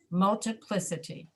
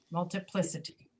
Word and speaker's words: multiplicity: Which one is accented? The third one. Right. Multiplicity, multiplicity. Can everybody hear that? Yeah. What happens to the vowel right before that? Listen to how I'm saying it. Multiplicity, multiplicity, multiplicity. Like reduction before. It's reduced.